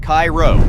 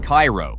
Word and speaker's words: Cairo: Pronounced Cairo, not Cairo, this tiny town sits